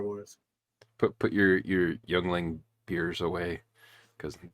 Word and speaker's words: youngling: put put your your youngling beers away CU not even they'll survive uh but Yingling no it's in this in this joke it's pronounced youngling anyways so we're going to